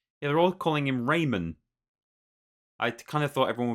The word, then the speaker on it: Rayman: to be pronouncing it Raymond like it is just it's like he's called Raymond but they've just taken the d off the end um right so there